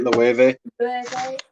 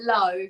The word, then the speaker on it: Loewe: Loewe Pour Homme, that's right, Loewe. Loewe. I've always just called it Low, but I've seen other people call it Loewe.